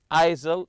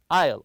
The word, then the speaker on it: aisle: an aisle seat and remember Isle with a silent s here don't read it isil it's Isle the S is silent